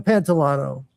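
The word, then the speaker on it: Pantoliano: Yeah, so Joe Pantalone, Joe Pantolano, I guess is how you pronounce it.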